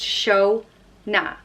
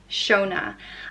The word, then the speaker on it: Shona: next name is Shona I mispronounced show na Shona and Shona means God's